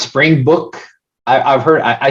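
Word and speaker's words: Springbok: south africa right or africa yeah that's that's pronounced spring book i've i've heard i said it's called spring bach but it's pronounced book okay so what are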